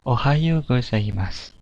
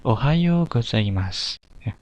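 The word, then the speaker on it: おはようございます: Nah, di Jepang pagi hari itu diucapkan dengan ohayo gozaimasu. Saya ulangi, ohayo gozaimasu.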